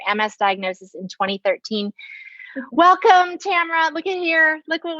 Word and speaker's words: Tamara: t tamara just kidding tamara rhymes with camera we were just joking